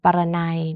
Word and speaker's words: ปรนัย: เสียง ออ นะ คะ พยัญชนะ ไทย ที่ ไม่ มี รูป สระ กำกับ แต่ ออก เสียง เป็น ออ ก็ อย่าง เช่น คำ ว่า พร นะ คะ บริเวณ ปรนัย นะ คะ ก็ จัด ว่า เป็น คำ อ่าน ยาก นะ เพราะ ว่า ไม่ ปรากฏ รูป สระ แต่ ว่า อ่าน ออก เสียง อย่าง มี สระ นะ คะ คำ ที่ ออก เสียง